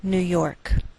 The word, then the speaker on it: New York: Note that we treat New York as one word and we place more stress on the second part, York. Again, that's Albany, New York.